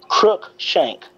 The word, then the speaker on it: Cruikshank: Cruikshank. Yeah, there you go. Think about a crook and then shank.